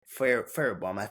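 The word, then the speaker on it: Fairbairn: And then with the Texans, I mean, didn't much for Fairbaum, that's how you say it.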